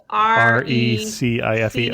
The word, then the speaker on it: Recife: Yeah, the R is an H at the beginning of the word in Portuguese.